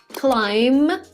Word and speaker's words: climb: show you some examples climb climb okay make it climb climb right climb there is no B in the end lime climb that's what we pronounce it come come calm something